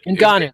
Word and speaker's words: Ngannou: I just say Ngannou, but Ngannou, that's right.